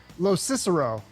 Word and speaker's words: Locicero: good welcome I I think I can say it right now I practice this Los Cicero you said it correctly all right we got